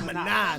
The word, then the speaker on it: Minaj: Not Nicki Minaj.